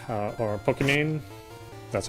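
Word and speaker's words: Pokimane: or uh um what's your name uh or pokemane that's how you pronounce it um i had to mention that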